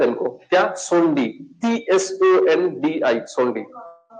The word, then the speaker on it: Tsondi: TSONDI, सोंडी, T silent रहता है, सोंडी, ठीक है?